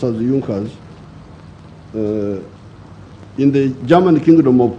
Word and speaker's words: Junker: it had the big farmers known as the junkers it's written in the junkers but it's pronounced as yunkas in the german kingdom of prussia one of